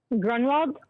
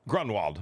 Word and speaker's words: Gronwold: How do you pronounce yours? Grunwald. Grunwald.